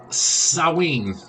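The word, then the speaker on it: Samhain: what are the origins of Halloween or uh sawing which is how it's pronounced it's spelled uh s-a-m-h-a-i-n so and again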